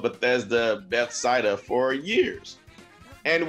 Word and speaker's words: Bethesda: for years and i'm gonna say it right bethesda ah you did it i it's been here it's literally been years in the making dude i if i would have heard bethsaida one more time i would have screamed at